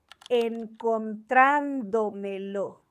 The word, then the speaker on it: encontrándomelo: Encontrándomelo. This one is a sobresdrújula, so it needs an accent.